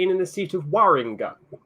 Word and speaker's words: Warringah: in the seat of warringah yeah Moringa sorry I've always pronounced it as well because I'm because I'm English it's waringa yeah yeah yeah it's